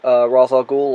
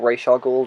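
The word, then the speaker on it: Ra's al Ghul: having some history with razar ghoul or RAR ghoul depending on how you say it who is for those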